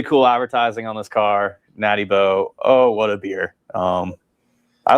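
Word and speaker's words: Natty Boh: So it's not National Bohemian. It's Natty Bo.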